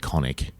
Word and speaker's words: chthonic: There's a fuzz pedal called Chthonic Fuzz, but they tell you to pronounce it hard K, no TH. Yep. I think they actually pronounce it conic.